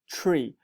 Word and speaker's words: Tree: sounds like a double it sounds like a t r double e tree and you can call